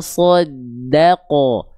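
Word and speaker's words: صدّق: Ko, fala soddaqo. So-nya tebal, da-nya tipis, qaf-nya tebal.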